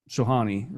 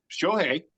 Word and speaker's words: Shohei: I lean more towards it's Shohani, or yeah. God damn it, I said his name wrong again. Shohei.